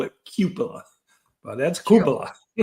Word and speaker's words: Koopa: I had to relearn how to pronounce that right. Not Cupila, it's Koopa.